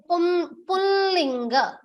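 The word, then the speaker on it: पुंलिङ्ग: Pronunciation Pullinga. Pullinga. There is a slight anunasika sound that will come.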